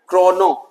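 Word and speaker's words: kronor: 30 क्रोनोर ठीक है वैसे इसको क्रोनो नॉ लास्ट वाला आर साइलेंट कर दीजिएगा ओनली क्रोनो तो क्रोनो वहां का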